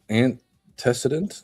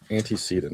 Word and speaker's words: antecedent: So anticidentant. Okay. What happens right before the behavior occurs? How do you say that a word? Anticedant. antecedent and then um